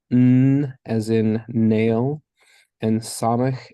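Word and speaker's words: סמך: as in nail and samik is pronounced S as in snake and then ayin which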